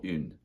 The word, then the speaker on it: une: Une table.